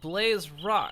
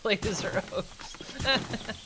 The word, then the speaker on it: Blaze Rock: I put the inflection on the wrong part, so it makes more sense to be Blaze Rocks instead of Blazer Oaks.